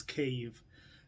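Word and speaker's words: Kyiv: have been asking me how you pronounce it it's cave uh imagine eve like adam and eve so eve there you go not that's russian don't say it that way eve cave say it with me okay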